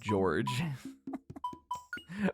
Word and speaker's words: Jorge: Went to a school with a guy named Jorge, and do you know how he pronounced his name? George.